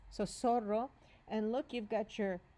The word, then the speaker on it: zorro: Zorro. Zorro. Okay, so you might have thought, sounds like the letter S. S. But it just happens not to be, okay? That would have been a logical choice.